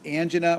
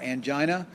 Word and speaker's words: angina: to appreciate that is angina or angina you'll hear pronounced both ways this is chest pain